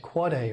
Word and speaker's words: AAAA: Similarly, you might not be surprised to learn that there's an AAAA, it's pronounced Quad A record.